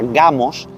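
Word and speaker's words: γάμος: la palabra número 1062 en griego que se pronuncia gamos que significa boda o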